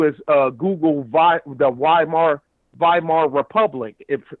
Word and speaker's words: Weimar: uh google the weimar weimar republic if it's pronounced like a v but it's spelled with a w that's the way germany does it but uh uh uh